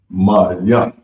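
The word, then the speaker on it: מים: So water, Mayam. Mayam. And it's pronounced, it's spelled I'm sorry, M-A-Y-A-N.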